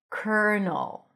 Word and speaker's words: colonel: So here, instead of the L, you pronounce an R, cur, and then null, another dark L.